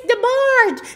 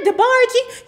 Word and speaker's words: DeBarge: It's DeBarge, not DeBargey.